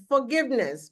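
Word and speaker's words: forgiveness: अपना प्रोनंसिएशन ठीक करेंगे फॉरगिवनेस बोलिए फॉरगिवनेस फॉरगिवनेस फॉर फॉरगिवनेस रा को तो भूल ही जाइए रा का उच्चारण नहीं करना है फॉरगिवनेस फ बोलिए और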